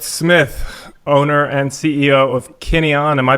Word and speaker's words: Kineon: Forrest Smith, owner and CEO of Kineon. Am I pronouncing that right?